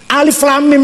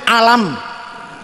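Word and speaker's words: الم: Alif lam mim niku nek ora ana ilmu tajwid, kula dhewe macane alam. Alif lam mim niku tak waca alam niku. Tapi karena ilmu tajwid bilangnya jangan gitu bacanya. Ini yang ini nih.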